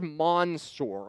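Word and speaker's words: Mansoor: And I've been really struggling with the pronunciation of his name today or over the last couple of weeks, but it is Mansour.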